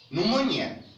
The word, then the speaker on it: pneumonia: Pneumonia. طبعا البي هنا يا شباب silent letter written not pronounced means some inflammation in the lungs التهاب رئوي.